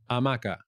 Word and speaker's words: hamaca: centro león una hamaca en dj is never pronounced in spain is never hamaca is there life work